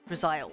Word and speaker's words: Drizzile: Drizzile, like crocodile almost. Drizzile, that's how you say it.